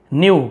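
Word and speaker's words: knew: But they न्यू, लेकिन वो जानते थे, न्यू के साइलेंट रहता है, ये नो का सेकंड फॉर्म है, KNOW, नो, यहाँ पर भी के को नहीं पढ़ा जाता, नो बस को पढ़ा जाता है, उसी का सेकंड।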